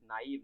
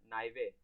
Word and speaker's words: naive: Okay, you've just mispronounced it. It is naive, not naive.